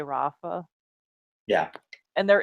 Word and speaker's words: Rafa: And there is an ah sound in British English. I don't know why they can't say Rafa. They always say Rafa, and it's just like it's a simple name.